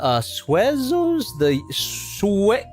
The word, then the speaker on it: Suezo: Also, yeah, Suezos, Suezos. That's how you pronounce it.